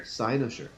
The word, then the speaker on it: Cynosure: In all honesty, from my exposure to Cynosure, is that how I pronounce it? Cynosure. Cynosure.